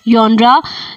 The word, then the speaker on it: genre: this word is pronounced as जॉनरा, जिसमें हम लोग तफसील से